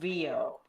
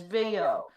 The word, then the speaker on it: Vio: Well, I call him Vio, but some people call him Vio because Vio for Violet, but I think Vio sounds cooler, so it's whatever. It's V-I-O. Pronounce it how you please.